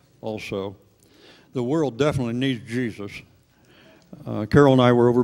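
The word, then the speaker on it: Jesús: and I can say I talked with Jesus for 4 hours, but really it's pronounced Jesus.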